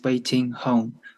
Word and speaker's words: Wei-Ting: I will be your co-moderator, and my name is Wei-Ting. You can just pronounce like waiting for someone, the waiting in that.